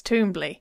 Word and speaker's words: Twombly: So in the audiobook, it's Twombly.